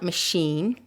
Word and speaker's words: machine: These are words of French origin, and words that are often of French origin have the last syllable that is stressed.